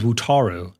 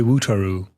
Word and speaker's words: Wutaro: His name is Wutaro. And I always say Wutaru because that's just like my accent really.